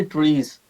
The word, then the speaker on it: TRIZ: Ji what is stress so ट्रीज is basically a Russian word. सो वो उसे pronounce करते हैं जी ट्रीज।